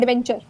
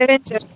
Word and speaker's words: adventure: Adventure. Right? Adventure. Yes. So say it a little softly. Adventure. Adventure. Okay. Right? Softly. जो N का sound है, it's soft.